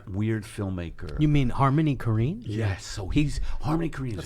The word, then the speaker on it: Korine: Corman? I mispronounced it too. Corinne? Harmony Korine.